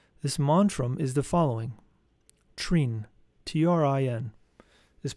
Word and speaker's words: Trin: Prolong the sound of the vowel I and of the consonant N, giving it tones similar to a bell.